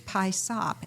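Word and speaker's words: PYSOP: But P-Y-S-O-P is pie sop, and it is an acronym for Put Your Stuff on Paper.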